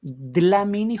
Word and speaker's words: Dlamini: to talk about EST glamini Foundation is it pronounced right de la mini Foundation and for you that's okay Foundation okay